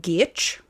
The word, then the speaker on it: Giertz: It's spelled like Giertz, but it's some kind of Swedish surname. I'm not sure. So it's pronounced like Giertz, I think.